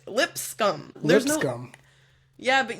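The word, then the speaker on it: Lipscomb: okay l i p lip scum like l i PS lip scum scum yeah no they're no you're still not saying it right you're saying limb scum you know you know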